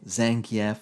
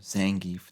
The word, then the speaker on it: Zangief: You had Ryu, Ken, Chun-Li, Cammy, Vega, Guile, Zangief or Zangif, depending on how you pronounce it.